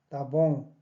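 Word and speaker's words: tá bom: 따봉, 따봉라고 물으면 오케이? 이 말이죠. 이것도 이스타입니다. 그죠? 이스타봉. 이것을, 이 발음을 실질적으로 안 해볼 때가 상당히 많습니다.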